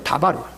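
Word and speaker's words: דָּבָר: 예수님은 어디까지나 아람어 히브리어를 썼는데 그 히브리어의 말씀이라는 발음이 다바르입니다. 다바르.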